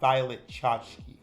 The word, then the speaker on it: Violet Chachki: me and she goes It's pronounced violet chachki oh God that sounds like violet and she's butt naked